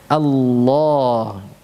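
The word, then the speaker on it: الله: Hanya saja ya, yang perlu dicatat di sini pengucapan hamzahnya. Mana hamzahnya? A, ya. Ya, awalan lafzul jalalah itu di sini kalau kita memulai dari kata atau lafzul jalalah ini kan kita membaca hamzahnya ya dengan berharakat fathah a.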